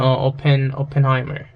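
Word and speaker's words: Oppenheimer: 오펜하이머 같은, like the 오펜하이머가 발음이 어떻게 되지? P인가? P 맞네요. 오펜하이머.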